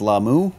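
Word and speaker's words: Lah'mu: He's pronounced it right too. Finally, that's how they say it. It's gonna start. It's gonna start on Lamu.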